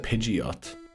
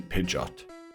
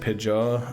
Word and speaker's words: Pidgeot: I think I said Pidgeot and I was thinking that's definitely mispronounced. It's supposed to be Pidgeot. It was pigeon and just a T at the end. Pidgeot.